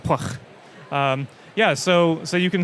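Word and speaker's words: Pwyll: few catered features hook pwy ll which is pronounced pluck yeah so so you can see places where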